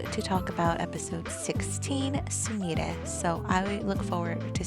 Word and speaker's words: Sumire: Now, I thought that was funny because I had always been pronouncing it as Sumire. So I just got a huge correction. It's Sumire.